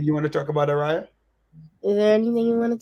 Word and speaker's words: Ariyah: Oh, Araya. Okay. Like a Ray. Araya.